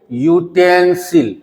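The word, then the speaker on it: utensil: क्या लिखोगे यूटेंसिल यूटेंसिल यूटेंसिल का पहला अक्षर य आया और य क्या है? व्यंजन वर्ण है। इसी की वजह से वोवेल यहां यू होते हुए भीकि उसका उच्चारण य हो रहा है। इसलिए हमें यहां ए लगाना पड़ा।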